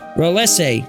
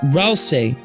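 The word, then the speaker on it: Ralsei: Ralese. No, it's Ralse.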